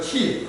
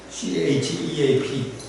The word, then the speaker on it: chief: 이거 chief 하는 거고 발음 조심하셔야 돼요. 그죠? 잘못하면 싼 판사가 되고 CHEAP 아니면 또 chief CHIP 지금은 정년퇴직하셨는데 우리 학교에 김대중 교수님이 가끔 농담 잘했어요.